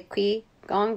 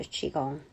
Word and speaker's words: Qigong: q i so Qigong I used to say Qui gong because that's what my American mind um reads into but it the pronunciation for q i is qi so Qigong energy Central Energy work